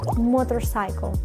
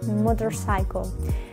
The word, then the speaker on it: motorcycle: ver repite conmigo motorcycle si te fijas No exagero la o no digo moto sino que es un poco como si hubiera una Ah una o al principio motorcycle pero es muy suave fíjate motorcycle y luego también en la última palabra cycle no Digo cicle sino que diremos cycle mira pronúncialo como te